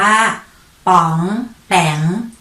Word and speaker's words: ป๋องแป๋ง: ๆ คำ แรก มา เลย ค่า คำ ว่า ป๋องแป๋ง สะกด ว่า ป อ.